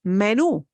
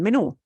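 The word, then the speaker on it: menú: so you'll see it these words need accent marks because the stress syllable for proper pronunciation breaks the normal rules so here are words that end in a vowel or n or s but we don't punch the syllable you normally would so menu the way we pronounce meno punches the oh at the end menu and you're right if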